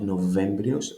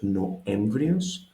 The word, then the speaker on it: Νοέμβριος: The V is lost, not Novembrios, Noemvrios.